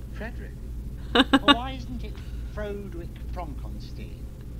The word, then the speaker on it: Frederick: Do you also say Frodrick? No. Frederick.